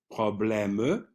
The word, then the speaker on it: problème: Now, the step 3, the silent E at the end of words of more than 1 syllable. So here we have one, problème, You see, the E is crossed out. That happens in English as well, so it's not a problem for you, pas de problème.